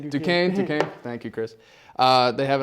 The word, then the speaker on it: Duquesne: So, and then the next match against Dusquin, I believe. I can't really pronounce the name. Duquesne.